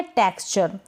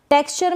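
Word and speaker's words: texture: टेक्सचर में ये जो है ना ट बन गया इस टी का, और ये ए की मात्रा के रूप में ई चला गया है, और ये जो एक्स होता है इसको हम आधा क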